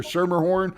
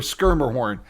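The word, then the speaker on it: Schermerhorn: This the locals say either Shermerhorn or Skirmhorn.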